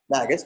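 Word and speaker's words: NGAUS: together for an organization they pronounce their name magnets it's in G a us the National Guard Association of the United States so as you might expect Magus being an association they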